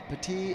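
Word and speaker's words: Baty: Young Taylor and Bat Bati. And if anybody gets on, Torren's the catcher. Not Batty. Bati. Sorry about that. Bati. Got to say it right.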